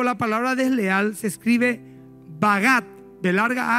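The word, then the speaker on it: בגד: En el hebreo la palabra desleal se escribe bagat.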